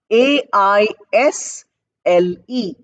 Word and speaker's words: aisle: seat it is spelled a i s l e s is silent s is not pronounced it's pronounced as i